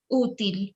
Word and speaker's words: útil: la palabra útil, useful, since it Útil. has, exactly, it has an accent in the first syllable, so you make the stress there.